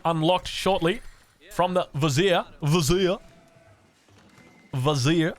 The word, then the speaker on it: Vizier: Vizier, apparently is how you pronounce it. You got to pronounce it like that. Vizier. You got to pronounce it like that from the south into Texas.